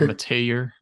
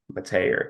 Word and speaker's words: Mettauer: Now, their left guard is the transfer from Cal, McCade Mettauer. It's my mouth just does not want to form that name. Like I know how it's pronounced. Oh, like Mateer. Mateer, yeah.